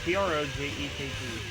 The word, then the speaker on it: Projekt: It's PROJEKT. No, because I'm just simply saying I keep hearing people pronounce it Project.